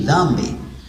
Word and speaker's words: dhambi: If you find a name called Dhambi, you see, you put your tongue between your teeth. You say Dhambi.